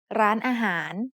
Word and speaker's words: ร้านอาหาร: The first syllable has the initial low-class consonant รอเรือ with ไม้โท added above it to give it a high tone. The second syllable is a mid-tone อา and the last syllable is a rising tone หาร that starts with the initial high-class consonant หอหีบ To write the whole